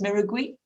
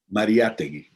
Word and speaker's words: Mariátegui: And this famous, you pronounce it Miragui? I'm not. Mariátegui.